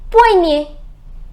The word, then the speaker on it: poignet: So OI is OA. So un poignet. Un poignet, which means a wrist. A wrist.